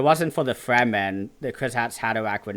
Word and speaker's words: Kwisatz Haderach: I think it's Kwisatz Haderach. That's how I say it. Kwisatz Haderach.